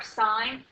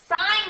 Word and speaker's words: sine: They are sine, cosine, and tangent. They are abbreviated SIN, that's pronounced sine, not sin.